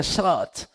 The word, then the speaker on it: Sabaoth: Yahvé Sabaoth, así con la pronunciación correcta, Sabaoth, ¿verdad?